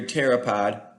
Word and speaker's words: pteropod: How come you can't hear a pteropod going to the bathroom? Silent P.